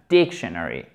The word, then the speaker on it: dictionary: et des canaries ok l'accent tonique il est ici première syllabe dictionary look étape nda dictionary